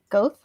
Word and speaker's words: Goethe: By Goethe, probably. Goethe.